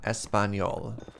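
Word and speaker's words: Español: child stole from me at least you got the N right that's one a lot of anglophones get wrong but n oh the Espanol as opposed to how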